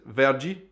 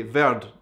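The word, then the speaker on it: verde: give you an example the color green in Portuguese is vergie but I always wanted to say ver and stop ver but actually it's not correct you need to say in Portuguese ver it's something that foreigners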